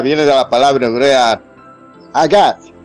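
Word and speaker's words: הגה: Delicia viene de la palabra hebrea agad, se escribe H-A-G-A-H, agad.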